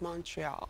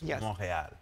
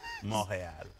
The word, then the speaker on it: Montréal: And you were saying it's pronounced Montreal. Montreal. But if you really want to be authentic, it's Montréal. Oh, okay. Do that one more time. Okay, wait. Ladies, Montréal.